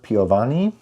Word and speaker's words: Piovani: The score was by Nicola Piovani. I feel like I was able to pronounce it better because it sounds like Ludovico Einaudi, who's also Italian.